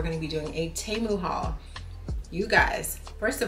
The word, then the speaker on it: Temu: this video and I realized that the pronunciation is Temu, like T-E-H-mu. So in case you've been saying it wrong all this time as well, there you have it.